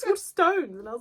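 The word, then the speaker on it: Waterstones: Allie didn't know that you were going to be the one after it's water stones.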